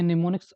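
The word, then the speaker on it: mnemonics: समझते हैं अजय को है तो सफल देखते निमोनिक्स आखिरकार होता क्या है कि से आप नुस्खा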